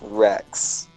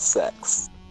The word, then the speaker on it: Rex: It's Rex, not sex.